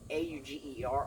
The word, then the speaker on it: Auger: Felix Auger, and from what I'm told, you pronounce the A-U-G-E-R, Auger. I may be wrong there, but I did look that up, and that's what I found, unless it was fake news.